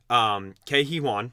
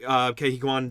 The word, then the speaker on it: Ke Huy Quan: but I think this is because Ke Huy Quan has been in the spotlight. Yep. I always say his name wrong.